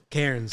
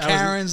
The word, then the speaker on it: Cairns: Cairns, like, how you pronounce it? Cairns. Cairns, yeah. okay. Yeah, Not Karens, like the ones that are cool when you're doing something bad.